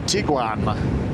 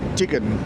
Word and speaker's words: Tiguan: and into a VW Tiguan, or Tigan as he calls them. Trying to get him to pronounce that properly as well.